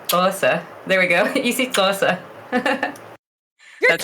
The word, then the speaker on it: Xhosa: Easy Xhosa. you're That's how it's clicking. pronounced. Yeah. Yeah, it's the side of your cheek click for here, let me turn this off again.